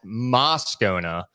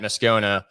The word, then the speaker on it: Moscona: name is set on the radio as moscona but the more common way to pronounce it is muscona uh of ESPN 104.5 after further review that's